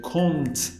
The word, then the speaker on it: compte: تلفظ ما اشتباه میکنیم چون که یه پ داره اونجا، بعضی وقتا میگیم کنت که این اشتباه. بچه اون پ هیچ وقت تلفظ نمیشه، کنت تلفظ درستش.